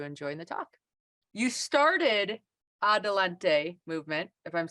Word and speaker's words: Adelante: forward to you enjoying the talk you started Adelante movement if I'm saying it correctly it's correct